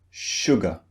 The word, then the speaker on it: sugar: Now, the word sugar contains 2 syllables. This means 2 beats. Sugar, sugar. Now, one of these syllables is stressed. The other syllable is unstressed. Which syllable do you think is unstressed? Sugar, sugar. It's the second syllable.